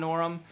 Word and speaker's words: Norum: So this is, you know, one of the best guitarists ever, John Norum. And Norm, however you want to pronounce his name, I would pronounce it Norm.